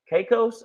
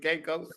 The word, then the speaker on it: Caicos: Caicos. Am I saying it right? The Turks and Caicos.